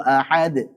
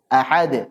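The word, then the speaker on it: أحد: contoh misalkan Qul huwallahu ahad ahad bukan mengakhirinya dengan Hamzah tapi apa menjelaskan Qalqalah tersebut Walaupun sebagian enggak setuju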